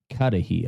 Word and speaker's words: Cudahy: three and then uh katahi I think is is how you pronounce it it's like c-u-d-a-h-y um but they were